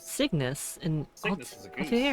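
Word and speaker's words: Cygnus: Signis. Signis in the constellation Aquilla.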